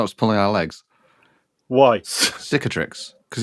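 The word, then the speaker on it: Cicatrix Maledictum: kicker Trix maledictum or depending on how you pronounce it cetrix maledictum or catric maledictum really yeah you know just you know what's pulling our legs why cicatrix because it's just a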